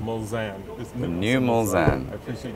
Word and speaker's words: Mulsanne: how do you pronounce it? I always get it wrong. It's the Mulsanne. Mulsanne.